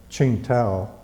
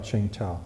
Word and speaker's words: Qingdao: Well, we were based at Qingdao, is the way the Chinese pronounce it. Yeah. Qingdao.